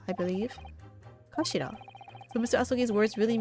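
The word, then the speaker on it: 頭: hilt oh that too it's written as head in Japanese but it's pronounced as Kashira I believe kashida so Mr ASI's words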